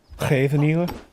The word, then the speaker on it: Scheveningen: I've never once heard someone that isn't Dutch pronounce Scheveningen correctly. Scheveningen.